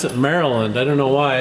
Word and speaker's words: Maryland: Paul reader from Maryland we don't call it merry land we pronounce it Maryland I don't know why it's spelled Maryland anyway